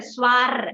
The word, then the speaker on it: soir: Ma'am, would we speak R and soir? Yes. Soir. Okay, it just goes and it rolls in your thing. You don't emphasize a soir.